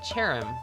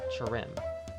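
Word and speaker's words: Cherrim: It's Cherim with the stress on the first syllable, not Cherim.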